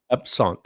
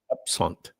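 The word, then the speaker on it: absinthe: Am I saying that right? Is it EP? How do you say that? Let's look that up. Hold on. And Oh, listen. It's in French. It's eps. Ebsant in French. Epsont. That's interesting. Upsant in French.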